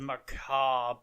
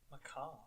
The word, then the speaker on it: macabre: I like it when you pronounce something correctly. So many people say macabre, and it's just like, oh God, that's even worse than macabre sounds like a starting running back for the San Francisco 49ers.